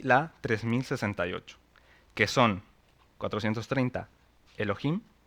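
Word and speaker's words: אלהים: que es Elohim lo traduce como Ángeles la pronunciación es Elohim se deriva de otra palabra que es un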